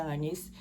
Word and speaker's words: Agnes: do pai dela, eh, o nome dela tava escrito como Anes, Agnes, mas pronuncia Anes.